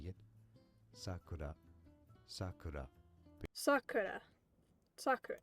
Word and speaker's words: Sakura: Sakura. So it's Sakura. Without the roll. So if I don't, because I can't roll my R's. So I just say Sakura, not Sakura.